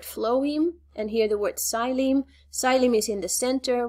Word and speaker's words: xylem: Xylem, you spell it with an X, but you don't pronounce the X.